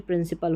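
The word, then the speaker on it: principle: से आपको पकड़ना है पढ़ा दोनों को पल जाता है पी एल को भी और पी एल ई को भी ठीक है यहीं पे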